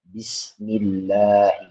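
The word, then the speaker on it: بسم الله: Cara membacanya, posisi mulut tidak menjorok ke depan. Misal Bismillahirrahmanirrahim, Bismillah, atau fi Rasulillah, atau fi dinillahi afwaja.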